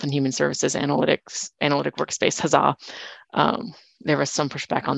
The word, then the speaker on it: HAZA: So we're actually using this, what we call it HAZA, we pronounce it the Health and Human Services Analytic Workspace HAZA.